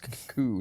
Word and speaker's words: coup: It rhymes with soup. Indeed. It doesn't. It's coup, not sue.